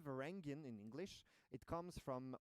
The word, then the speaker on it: Varangian: But could you explain maybe why we pronounce it Varangian and not Varangian?